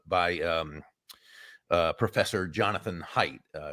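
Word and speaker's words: Haidt: um uh Professor Jonathan height uh it's spelled ha a i g HT the pronounce is it height it's called The Righteous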